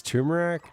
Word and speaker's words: turmeric: It's turmeric.